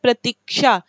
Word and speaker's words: प्रतीक्षा: तो अगर आप देखें तो प्रतीक्षा लिखना हम लोग बोलते हैं प्रतीक्षा, ठीक है, लेकिन ये होता है प्रतीक्षा। यानी कि आप जब श का इसका उच्चारण करते हैं तो इसका जो निर्माण होता